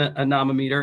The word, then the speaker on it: anemometer: And what is an anemometer, and am I pronouncing it correctly?